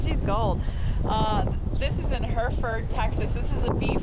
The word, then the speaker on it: Hereford: Hereford. Like the cow.